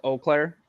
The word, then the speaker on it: Eau Claire: you you watched it you couldn't pronounce that Eau was oh no it's Eau Claire yes see I've always